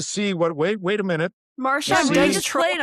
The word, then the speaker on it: Marchand: Yeah, I think I have Marchand. Sometimes I'll do it SHAND. I think I go with Brad Marchand.